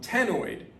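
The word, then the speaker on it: ctenoid: fish they have um tenoid you don't pronounce the c it's like nigerian scales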